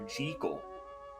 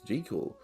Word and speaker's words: Jekyll: Do you know that in the first sound version, as well as the original intended pronunciation, the name was actually Dr. Jekyll? Ooh. Okay, I never knew that. That's Jekyll.